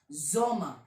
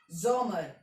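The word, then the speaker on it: Sommer: हैं जोमा बताया था एस की साउंड अरे यार लिख देता हूं यार क्या यार कंफ्यूजन हो रहा है ना जे की साउंड जे वाई से प्रोनाउंस होता है और एस किससे प्रोनाउंस होता है जड से ठीक है ये देख लो क्लियर हुआ तो जड एस जड से प्रोनाउंस होगा तो जोमा जोमर ठीक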